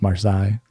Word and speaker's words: Marseilles: box is that um its name is Marseilles it's what we call it it's supposed to be pronounced marsai obviously I'm pretty close to